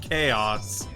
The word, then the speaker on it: Chao: Because otherwise, Chaos would just be like chaos with an S. Or, that's how they say it in Japanese, chaos. Well, that's chaos, yes, but Chao is pronounced Chao.